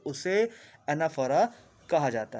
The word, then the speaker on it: anaphora: एनाफोरा का spelling ANAPHORA.